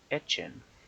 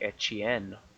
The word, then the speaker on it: Etienne: bring up is Travis ETN. And it's actually pronounced etchen. He said it the other day. And uh I think it's even like etchen because I think it's French and he's from Louisiana.